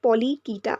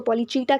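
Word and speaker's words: Polychaeta: पहली क्लास है पॉलीकीटा। अब आप इसको पॉलीचीटा कहना चाहो या कीटा कहना चाहो, इट is totally your choice, but मैं यहाँ पे पॉलीकीटा प्रोनाउंस कर रही हूँ।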